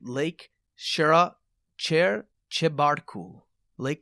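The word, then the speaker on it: Chebarkul: i get the name right lake shera chair chebartku lake chabartical it's a very beautiful looking place i'm kind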